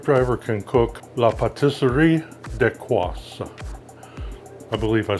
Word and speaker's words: Dacquoise: We are looking at how to pronounce with a typical French pronunciation, Dacquoise.